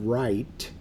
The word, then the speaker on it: right: do want you to notice that this word right has a g and an H in it that are silent there's a lot of